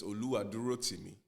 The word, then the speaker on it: Oluwadurotimi: But it's Oluwadurotimi. Oh, You know, Yoruba has this swag about the way you say words. It's almost like Oluwadurotimi. singing, you know.